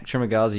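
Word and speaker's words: Trimagasi: Trimagazi.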